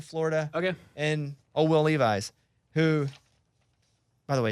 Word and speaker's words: Levis: okay and oh will levi's who by the way his name's will levis but i will levi's man tell him that's